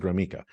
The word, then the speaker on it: Gromicko: And not a lot of people can pronounce or even spell Gromiko. There's no E in it, but I pronounce it Gromiko.